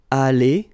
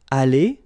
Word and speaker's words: allée: Here you've got aller, aller, even if you've got the final E, you don't pronounce it. Aller, even if you've got the S. Aller, even if you've got this ES. Okay?